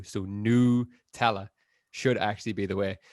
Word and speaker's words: Nutella: pronunciation by saying that the emphasis should actually be put on the N and the O-U, so Nutella, should actually be the way, which I think is complete horseshit.